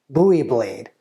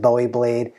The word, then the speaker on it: Bowie: Like a lot of people, I said Bowie blade. The true, technically correct pronunciation is Bowie blade.